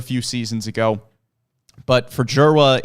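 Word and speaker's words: Dzierwa: We'll start with Jera, who if you are looking at trying to pronounce the last name, it is Jera. It is a very complicated spelling, but we're pretty sure on the pronunciation there.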